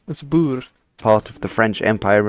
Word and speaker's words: Boer: In 1814 when the Netherlands was most people say bore it's not. That's Bur part of the French Empire under Napoleon.